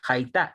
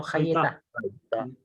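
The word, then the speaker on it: הָיְתָה: Eso se pronuncia Haitá y no Hayeta.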